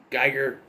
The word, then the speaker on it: Giger: you something about the effects so hr giger geiger you pronounce it he designed the creature for this